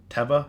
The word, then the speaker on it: Teva: then we'll go to Teva and we'll go into I guess I guess I guess it's not pronounced Eva it's pronounced Ewa tefa it's an Israeli company